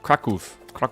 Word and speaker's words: Kraków: Patty told me how to pronounce it. It's Kraków.